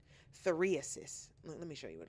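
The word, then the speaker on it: phthiriasis: Ptheriasis. That is the scientific name for pubic lice or crabs. Ptheriasis. Hold on. Ptheriasis. Oh, the P is silent. Ptheriasis.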